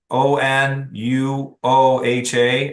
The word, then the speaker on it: Onuoha: Uh Onuoha, O N U O H A at 9:10. Got it. Ma'am, how do you pronounce the last name? Onuoha.